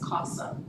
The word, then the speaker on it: Qasim: I love how she would help us remember how to pronounce her name, which is Qasim, sounds like awesome.